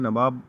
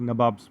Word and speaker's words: नवाब: नबॉब्स क्यों बोल रहे हैं यहां पे? नबॉब्स इसीलिए बोल रहे हैं क्योंकि कंपनी जब स्टार्ट किया नवाब बनना तो उनको एक्चुअली प्रोनाउंसिएशन में नवाब बोलना नहीं आता था। तो वो लोग नवाब्स बोलते हैं। नबाब्स। तो इसी के उनका जो